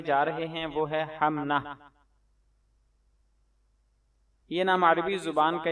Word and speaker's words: حمنہ: ہے۔ تلفظ اور اعراب، اس کا درست تلفظ ہے حمنہ۔ ہا پر زبر، میم پر جزم، نون پر زبر اور ہا پر جزم، یعنی ہا میم زبر حم، نون ہا زبر نہ، حمنہ۔ Spelling HUMNA، حمنہ۔ نسبت،